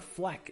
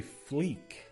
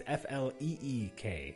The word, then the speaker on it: fleek: heard it before honestly well because it's not Fleck it's actually Fleek I've never heard it either way I've been I've been pronouncing it wrong in my head all this time because it's fle e k so it's Fleek and that sounds worse I